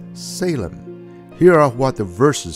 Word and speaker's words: Shalem: in the prime rule form Shalem and we pronounce it as Salem here are what the